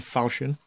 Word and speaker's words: Falchion: It is a Falchion. Well, that's how he pronounces it anyway.